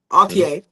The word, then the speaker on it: Altier: Altier.